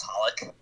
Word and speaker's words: xxxHOLiC: Not to be a weeb, but I'm pretty sure it's just pronounced Holic.